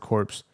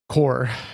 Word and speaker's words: corps: Iran's Iran's revolutionary guard corpse core I said corpse I pronounced the P core said in the uh